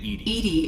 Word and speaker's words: EDI: the airlock is ajar why are you named edie is the phonetic pronunciation of edi that is an acronym for